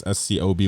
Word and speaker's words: SCOBY: Toggle having this live organism all the time called the SCOBY or the Scooby. I don't really know how to pronounce it, to be honest. It's SCOBY.